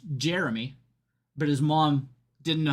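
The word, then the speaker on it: Gemie: So, his name is spelled G- E M I E and they ask him how to pronounce it. It's Jeremy, but his mom didn't know how to spell.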